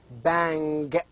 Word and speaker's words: bang: For example, as in bang. So the last G as a letter is pronounced, is produced, is spoken as ing. It's not like go, g. It's ing.